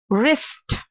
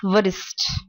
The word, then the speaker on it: wrist: next one is wrapped not wrap the W is silent and the last one is wrist wrist as the part of your hand wrist not virtus okay moving on to the next one in